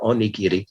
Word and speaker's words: onigiri: is that like uh the rice balls the onigiri i think i'm pronouncing it right on nikiti yes this is like this is li i